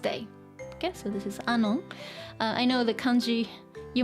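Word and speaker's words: 愛音: Okay, so this is Anon. I know the kanji, you might not be familiar with this combination. It looks like I and on, but it's pronounced Anon.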